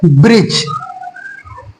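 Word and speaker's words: bridge: क्या पढ़ेंगे सिचुएशन देखिए बी आर आई डी जी इस तरीके से अगर हमारे पास बर्ड आता है तो इसमें डी साइलेंट होती है इसको हम लोग पढ़ेंगे ब्रिज ब्रिज क्या पढ़े ब्रिज इसको पढ़ेंगे हम लोग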